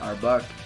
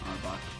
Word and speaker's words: Arbok: you have to fight him anyway so that arbach kept giving me a tough time just in it's it's just AR it's an Arbok hey hey you know what Arbok is backwards